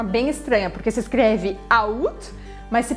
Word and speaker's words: août: Tem que esquecer que tem esse A e aí você vai falar só août, août. E aqui vai sim pronunciar o T, é uma exceção também.